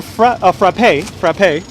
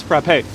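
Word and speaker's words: frappé: You can have a frappe with the accent on the E.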